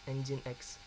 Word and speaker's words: Nginx: Bukan Nginx ya, dibacanya Nginx.